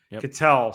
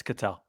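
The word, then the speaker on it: Ketel: Uh, Christian with the Red Sox and Kettle Marte. Catel, sorry. Yeah, it's Catel. Um, I said his pronounced his first name like he was a snack food.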